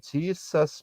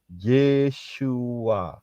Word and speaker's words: Yeshua: orang Ibrani orang Yahudi karena itu namanya adalah nama Yahudi ya bukan Jesus Bukan Yesus Tetapi yeshua kalau sa lihat di